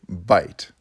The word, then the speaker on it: byte: together that's called a byte it sounds like a mouthful of food but it's spelled with a y and it refers to